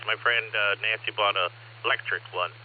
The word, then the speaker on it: Lectric: My friend Nancy bought a electric one. It's spelled LECTRIC.